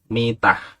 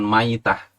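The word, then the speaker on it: ميتة: dengan mitan jahiliyah ini bacanya dengan Meme dikasroh yakni mitah artinya keadaan mati Bukan Maidah al-maidah itu tangkai seperti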